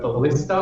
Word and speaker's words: ballista: Or I don't know how do you say this word, ballista or ballistae? Ballista. Ballista?